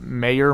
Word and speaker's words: Mayer: my top guy is Michael Mayer Meyer mayor I think it's mayor I have him as my number two area of expertise well it's not spelled like my name so yeah it's m-a-e-r m-a or m-a-year like John Mayer yes uh so I've